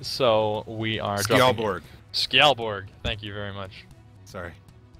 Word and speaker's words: Skjaldborg: Skjaldborg.